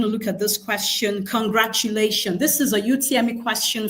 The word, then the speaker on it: congratulation: So if I have congratulation, the stress should also fall on the penultimate syllable lei.